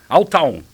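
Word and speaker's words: Al-Taawoun: Deixa eu ver se eu falo a pronúncia certa do seu time atual, que é o Al Tawon. Tawon, é isso? Isso. Tá certinho? Al Tawon. Al Tawon. Tá certo.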